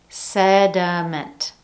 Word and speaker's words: sediment: Notice that each one contains a different vowel in the middle syllable, yet we're still using the schwa sound in each one of those.